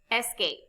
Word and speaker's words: escape: There are two syllables in complete. In the second syllable, the vowel E is followed by consonant T and E. The final E is silent and the E before it has a long sound, like E.